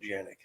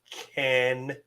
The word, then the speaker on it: Canik: And we did a little video for Toby because Toby calls it Janik. And he said Toby's it is weird. pronounced Canik.